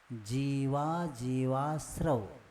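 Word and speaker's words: जीवाजीवास्रव: जीवा जीवाश्रव, क्योंकि अ का उच्चारण हो जाए तो शब्द बढ़ जाएगा। क्योंकि यहाँ विग्रह के साथ नहीं बोलना है, जितने शब्द है उतना ही बोलना है।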